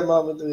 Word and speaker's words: Mamadou: Now, is it pronounced Mamadou or do I just say that? Yeah, Mamadou, yeah.